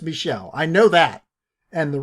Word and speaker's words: Michel: I know it's pronounced Michel.